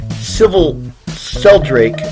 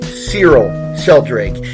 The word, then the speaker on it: Cyril Sheldrake: It's Squire Civil Sheldrake first appeared in Batman number 62 in 1950. This is also his first appearance alongside of the superhero he sidekicks for. I mispronounced his name. Cyril Sheldrake.